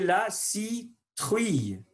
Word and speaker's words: citrouille: Ici, c'est la citrouille. La citrouille. Souvenez-vous de prononcer OU comme OU.